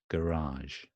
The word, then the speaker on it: garage: remember remember this funny garage garage so the stress is on the second part garage don't worry too